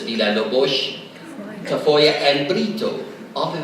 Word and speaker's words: Villalobos: In fact, when we look for Portuguese people here in New Mexico, you come up with names like Silva, Vargas, Villalobos, properly pronounced as Villalobos, Tafoya, and Brito.